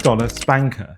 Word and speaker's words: SPNKr: First up, we have the $12 SPNKr.